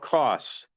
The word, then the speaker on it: Koss: There's a stock called cost. If you don't understand my Midwestern accent, I'll spell it. KO SS.